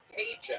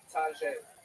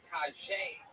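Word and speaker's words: Taija: Taicha. Am I saying that right? Tajay. Tajay. T-A-I-J-A. Everybody mispronounces that, right?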